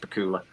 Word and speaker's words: Bakula: Joseph Medusa just said that Scott Bakula should be it's pronounced Bakula, obviously.